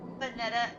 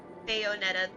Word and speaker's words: Bayonetta: Vanetta or Bayonetta. I'm sorry. I can't say that word, but I know exactly what game you're talking about. And it's such Bayonetta. Thank you, Phil and Bricks. That's how you say it.